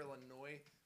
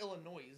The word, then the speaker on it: Illinois: Okay, it's Illinois. The S is silent.